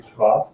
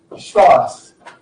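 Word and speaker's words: Švarc: quite fluent German now, but I cannot pronounce German mathematicians' names correctly because I did my PhD in the US. Right? I got so brain damage. I have never recovered from the inability to pronounce the German names correctly from there. So, okay, so Schwarz is what we say.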